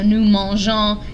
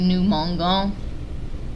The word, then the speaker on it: mangeons: And that's just because you need the E there for it to be pronounced correctly. So nous mangeons, if the E wasn't there, it would be nous mangons, which doesn't mean anything.